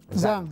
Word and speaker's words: Zhang: Com es pronuncia el cognom? Zhang.